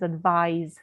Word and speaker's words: advise: If we say advice, and this is advise, so it's got a voiced sound.